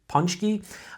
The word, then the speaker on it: Paczki: So when it comes to Paczkis, or some people pronounce it Punchki. There's a bunch of different pronunciations for the word.